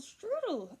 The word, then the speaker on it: strudel: the pregnancy of Apple Strudel over here. And this is Apple Strudel, pile of noodles. I like that because strudel rhymes with noodles and her hair kind